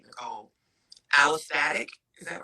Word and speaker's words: allostatic: Allostatic, is that right?